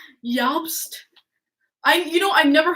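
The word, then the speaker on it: Jost: think Jastas pronounced yups the jays pronounced as a y in the european languages well I'm in America I say jobs Yost I you know I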